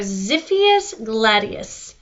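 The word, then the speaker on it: Xiphias gladius: one x is for zippy s Gladius pronounced zippy s with the Z right it's one of those X's makes this sound this is the scientific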